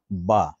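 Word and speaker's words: بے: যেমন বা, এটা উর্দুতেও আছে, আরবিতেও আছে। আরবিতে যখন পড়বো আমরা তখন পড়বো কি বা, আর যখন উর্দুতে পড়বো তখন পড়বো বে।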